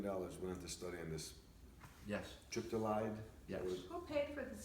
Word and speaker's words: triptolide: So it's triptolide. Is that the correct pronunciation?